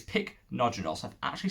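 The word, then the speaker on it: Pycnogenol: is called picnogenol pycnogen i call ficonogeno i always call it but it's not it's picnogenol so i've actually said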